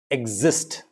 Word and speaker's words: exist: When is the pronunciation as eggs? Exist, egg, exist, exist, egg.